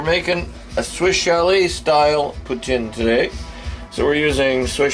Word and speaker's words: poutine: because we're making another putin i'm doing another pretend video uh if you want to pronounce it poutine well that's not how it's pronounced but most people say it putin is what we're making